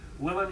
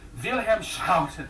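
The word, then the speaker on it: Willem: I am not Dutch, so I'm gonna say William Shoutton. If you're Dutch, it's Vham.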